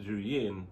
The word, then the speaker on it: Zhiyun: And I said Zhiyun because a couple of videos I watched from the actual tech places over on that side of the world, that's how they pronounced it. So that's what I'm going with.